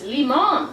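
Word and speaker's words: limón: Fun fact, in Spanish it's limon, which sounds a lot like lemon, but then on this side there was a picture of a lime.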